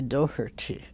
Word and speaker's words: Doherty: She still, when she greets me, she'll say, "Hi, Doherty," and she tries to pronounce it like I never. I just said Doherty, mm-hmm. you know. But it is supposed to be Doherty, oh.